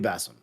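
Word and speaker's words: Basim: was muslim but like a middle eastern type of way of pronouncing it i think it will be bassem okay um i think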